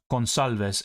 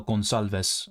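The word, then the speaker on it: Gonçalves: better so um so Pedro should be read as gonalez yeah I knew it was the wrong pronunciation but I didn't really have time to yeah check the pronunciation now during the stream but I do like him so gonalves I think that is right uh like gon alasio I did check a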